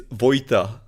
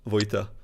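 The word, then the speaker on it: Vojta: And it's like a Czech version of that name.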